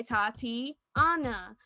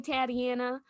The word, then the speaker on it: Tatiana: can say tatiana sometimes so i say tati anna so i have to do the actual breakdown saying my name and i even had